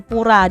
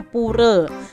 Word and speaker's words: Pura: Hindu itu ibadahnya di Pura adik-adik ada yang bacanya pura ada yang bacanya pure ya salah satu hari rayanya